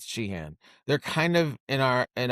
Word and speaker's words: Sheehan: Dodgers' current active worst pitcher is Shaheen, and they're or Sheehan, whatever. I think you pronounce Sheehan.